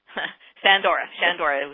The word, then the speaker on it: Shandora: No S, no H in her name, just S. Shandora is how we pronounce it.